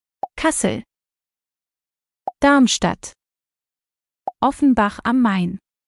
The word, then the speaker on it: Darmstadt: biggest cities in hissen and here's how you pronounce them mine Wiesbaden kaseer darmstadt of mine